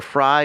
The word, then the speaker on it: Frei: It's Fry because phonetically it's the first half of my last name, which is Fry. Fry. Yeah, Fry. So because I know you Canadians have a very interesting way of speaking certain words, so I want to make sure I get that correct. Sorry. Well, I don't care if anyone mispronounces it, but it's phonetically it's the first half of my last name, which is German for freedom, Freiheit, verbatim.